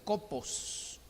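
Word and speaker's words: κόπος: palabra que viene de una palabra griega que es ella que se pronuncia copos y copos significa esfuerzo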